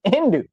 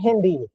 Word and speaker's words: Hindi: They got another place, all the signs are in Hindu. You understand what I'm saying? Hindi, actually, is how you say it.